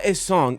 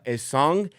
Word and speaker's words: Essengue: How I would pronounce it looking at it is Noa Essengue. If that's incorrect, I apologize